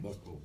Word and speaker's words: Boeckholt: This morning I'm speaking with Tony, I'm pronouncing Boeckholt, don't I? Boeckholt.